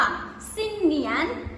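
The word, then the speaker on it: 新年: นี้ นะ คะ จะ ออก เสียง ว่า สิ้น เหนียน อ่ะ นี่ เหนียน สิ้น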